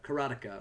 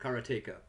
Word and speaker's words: Karateka: was known for for this game karateka or Karnataka I think the former is the correct pronunciation and when you started